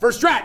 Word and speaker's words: Verstrat: Verstrat.